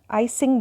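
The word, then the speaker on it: I-Tsing: है जिनको विक्रम आदित्य इचिंग बोला जाता है टी साइलेंट होता है जो की सेवंथ सेंचुरी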